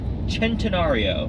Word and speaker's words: Centenario: we have the Lamborghini centenario which kind of looks like centenario Cent it just it looks like centenario but leave it to the Italians for one C being pronounced like a CH it is uh supposed